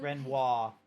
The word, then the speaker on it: Renoir: The paintress, Renoir, they will... Renoir.